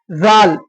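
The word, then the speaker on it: ذ: தால் ஜால், சாக்கும் ஜாலுக்கும் ஒரே மாதிரி தான்.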